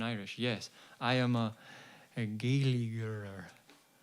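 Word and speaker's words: Gaeilgeoir: Flotson says, Sharsa, am I pronouncing that right? Does mean freedom in Irish. Yes, I am a Gaeliger. Gaeliger myself.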